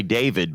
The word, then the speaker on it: D4vd: artist who goes by, we say David, but it's spelled D4 VD.